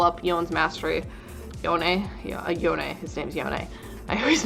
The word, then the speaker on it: Yone: Yeah, Yone. His name's Yone. I always mispronounce it.